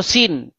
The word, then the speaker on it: Sin: Sin ya atau Suen bahasa Akadia atau bahasa Enzu ya dibaca dipronounce sebagai Suen atau Sin.